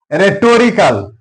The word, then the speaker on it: rhetorical: Rhetorical, here H is silent.